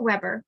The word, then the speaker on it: Weber: and bureaucracy born in germany max weber pronounced weber was interested in the